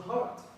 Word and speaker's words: heart: Maybe it means the pronounce word heart. Okay. Heart is not hurt this. Hurt this. It's heart. Heart. Heart.